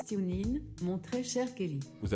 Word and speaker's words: TuneIn: radio les plus populaires avec tunis non ça se prononce timlin mon très cher kelly